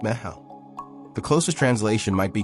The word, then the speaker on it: meitheal: It's called Mytheal, pronounced Ma-how.